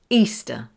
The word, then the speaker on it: Easter: Easter. Here, the ER sound is a schwa.